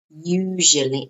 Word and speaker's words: usually: Usually, usually. Notice the pronunciation. Usually, no. Usually, like you, usually. And then a j sound.